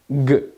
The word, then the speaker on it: Ґ: вимовляється вся ця конструкція ніби ви хочете сказати к але кажете г і у вас має виходити Ґ це Це не зовсім